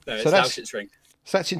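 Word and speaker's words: Lausitzring: No, it's Lauschitz-Ring.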